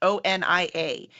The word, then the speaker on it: Onia: 9,000 ways to pronounce O-N-I-A until Al finally told us you pronounce it Oni.